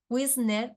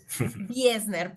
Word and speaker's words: Wiesner: dos grandes personas wisner y María José López pronuncié bien tu apellido wiesner se dice wiesner Perdón wiesner es